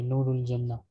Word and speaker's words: Noorul Janna: Miss Noorul Jana. How do you pronounce it? Janna or Jana? Noorul Janna. Okay, Noorul Janna.